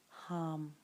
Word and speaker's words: Ham: As you inhale, you can silently say the word Ham H-A-M, pronounced hum.